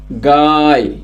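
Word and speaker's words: गाय: പശു പശു എന്നുള്ളതിന് എന്താണ് ഹിന്ദിയിൽ പറയുക പശുവിനെ ഹിന്ദിയിൽ ഗായ് ഗായ് എന്ന് പറഞ്ഞു കഴിഞ്ഞാൽ പശു ഒന്നുകൂടെ എഴുതാം ഗ എഴുതി ദീർഘം യ ഗായ് ഗായ് എന്ന് പറഞ്ഞു കഴിഞ്ഞാൽ പശു പശുവിനെ ഹിന്ദിയിൽ പറയുന്നതാണ് എന്ത് ഗായ് കൗവിനെ എന്താണ് ഹിന്ദിയിൽ പറയുക ഗായ് ഗായ് എന്ന് ഹിന്ദിയിൽ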